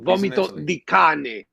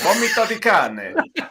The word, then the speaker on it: Vomito di cane: A little correction. Vomito di cane. Oh, is it? Vomito di cane. That's how you say it.